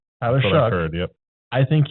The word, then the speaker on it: Shough: I was going to say, completely stupid and not pronounce it correctly, but Tyler Shough. Shuck. Sorry, I heard Shuck. Tyler Shough.